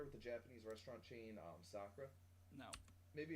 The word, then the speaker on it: Sakura: There's several of them around here, and they always call it Sakura. And I have told them on multiple occasions that it's pronounced Sakura, and they just don't believe me.